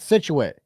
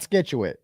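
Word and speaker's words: Scituate: like could skit situ it's called situ not SKU uh and and Bill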